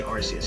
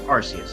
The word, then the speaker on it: Arceus: know why i say rcs because the narrator in that game says arceus and we're just going to go with rc's okay so y'all do your